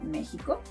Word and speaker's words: México: It may sound like a J, as in Mexico.